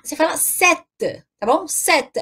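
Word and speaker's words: sept: assim s&p te certo SBT mas quando vai pronunciar você fala certa Tá bom sete é como se aquele pele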